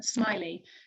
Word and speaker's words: Smiley: We've got 4 wonderful paintings by a Scottish artist called John Smiley. Now it's spelt Smelly but pronounced Smiley, and his dates were 1886